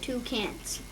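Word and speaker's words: toucan: large bread is called the tan rhymes with you can it has a big colorful bill there are different kinds of two cans monkeys also live in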